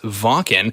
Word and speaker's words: Wacken: we're talking about Wacken yeah which is properly pronounced says Vulcan that's absolutely excited so as you mentioned there